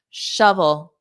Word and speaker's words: shovel: Shovel. Uh, shove. So for the V, you have to put your teeth there. V. So it ends on the dark L.